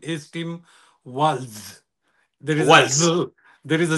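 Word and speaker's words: Walz: starting starting starting point one small correction his pronunciation of the last name is Tim WS there is there is a z there W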